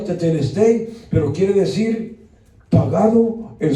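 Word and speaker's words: τετέλεσται: Es un término algebraico griego que quiere decir, se pronuncia teteleste, pero quiere decir pagado en su totalidad al contado en una sola exhibición, la sangre de Cristo.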